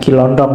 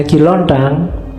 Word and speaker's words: Ki Lontang: Ini waktu diinterogasi antara lain yang diucapkan itu bukan Kiondong ya. Kamu ngertine Kiontong. Oke, nanti jadi stand up. Katanya Ki Lontang.